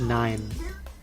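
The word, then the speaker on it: Nijn: I've never known that it's pronounced 9. It's 9.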